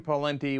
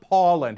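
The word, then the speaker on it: Pawlenty: me after every show it's not Paul lente it's pen the pen okay anyway uh so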